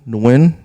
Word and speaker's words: Nguyen: know what I mean um I I'm nwin if you know how to spell that uh if your girl gets her nails